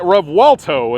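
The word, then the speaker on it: Revuelto: the flesh guys the Lamborghini rev walto is how you pronounce it that is one bad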